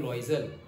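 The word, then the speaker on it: Loisel: What kind of a person is, meme लिखा है, that is madam, okay, तो उसको हम प्रोनाउंस करेंगे मैडम लॉइजल।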